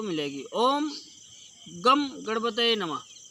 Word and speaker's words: गं: बहुत लोग गंग पढ़ते हैं इसको, बहुत लोग गम पढ़ते हैं। भक्तों, वैसे तो गम ही होना चाहिए, लेकिन उसका सही उच्चारण ओम गंग गणपतये नमः, गम गणपतये नमः नहीं। गंग बिंदी जो होती है गा के ऊपर, उसको हम गंग पढ़ेंगे, गम नहीं पढ़ा जाता है।